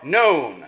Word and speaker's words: known: Have you writ down that they are known? Yeah, so the pun is between none and known. It works better if the K is not pronounced.